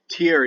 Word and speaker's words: Tyr: Christian invention even though tear day which is spelled Tyr but that Y is pronounced like au and an Old English